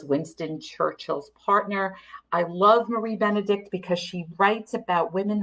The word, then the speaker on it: Marie Benedict: Yes, I know everyone thinks it's pronounced wrong, but it is Lady Clementine, and it is Marie Benedict.